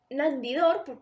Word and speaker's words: Nandidor: is Nandi - no Nandidor, because the accent, it doesn't have an accent means that the word is pronounced like that Nandidor, it's the first book from this trilogy by Alba López Paredes yes.